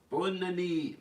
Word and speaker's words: bonne année: Bonne année, bonne année, bonne année, bonne année.